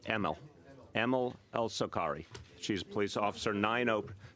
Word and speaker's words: Elsokary: El Sakari is the pronunciation. El Sakari. Yeah, I'm going to say Emil. It's even though it's AML, you say it like an E. Emil. Emil El Sakari.